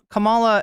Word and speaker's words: Kamala: you to let Kam Kamala I almost said cila this has gotten into my head I forget who mispronounced her name is Camila but it's it's incumbent